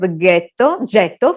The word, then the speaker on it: getto: The Ashkenazi Jews pronounced the Venetian word getto, foundry, with the hard G.